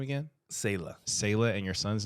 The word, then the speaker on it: Selah: right s-e-l-a-s-e-l oh okay yeah okay so we pronounce it sayla I think the Hebrew maybe Salah okay but neither one are a little black